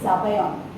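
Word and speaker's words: zabaione: In Italy it is zabayon. Z, they spell it with a Z.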